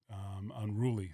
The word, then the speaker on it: Unrooolie: So I'm like, unruly, but I'm like, all right, but I'm gonna spell it cool for SOCOM so I can look, more urban or something like that. So that's how it came out. It's like, unruly.